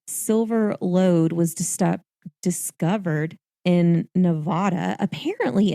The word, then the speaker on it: Nevada: June 12th, Comstock silver lode was discovered in Nevada. Apparently, it's Nevada. Yes, I've heard it pronounced that way.